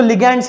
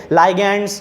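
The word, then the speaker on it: ligands: ठीक है, जिसको लिगैंड्स कहते हैं हम लोग, और इसको लिगैंड्स ही प्रोनाउंस करना है, ऐसे ही प्रोनाउंस करना है, लिगैंड्स को लिगैंड्स ही बोलना है। ठीक है, लाइगैंड्स, ऐसे बहुत सारे ये सब अलग अलग प्रकार के प्रोनाउंसिएशन है, आप लोग लिगैंड्स ही बोलना है इसको, क्योंकि because that's the right pronunciation.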